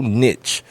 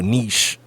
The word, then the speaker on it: niche: It's so niche or niche, however you prefer to pronounce it, that even if